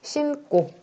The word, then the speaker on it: 신고: 어간 받침에 있는 니은이 어미 첫 소리 기역, 디귿, 시옷, 지읒과 만났을 때 뒤에 받침을 찐하게 된소리로 발음한다. 신꼬라고 할 수 있죠.